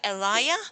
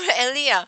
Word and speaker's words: Alya: to be pronounced this my name has to be pronounced Alya over a lea because to me Aliyah